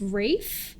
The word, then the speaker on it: Ralph: it actually that simple i think i think his first name is rafe oh that's just once